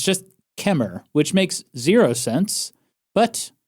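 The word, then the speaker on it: Kemmerer: Apparently, chem is pronounced kemer. The e r is silent on the end. Wow. So, it's just kemer, which makes zero sense, but I'm going to trust the locals on this one.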